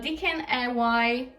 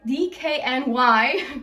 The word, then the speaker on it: DKNY: a pain in my ass and heart uh dkny dkny that's how you say it next to love